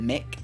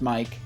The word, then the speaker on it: mic: And I can't wait to get Mike, or some people pronounce it Mick. I don't know. M-I-C is pronounced Mike as far as, like, audio device. I say Mike.